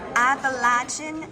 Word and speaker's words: Appalachian: This is Appalachian owl.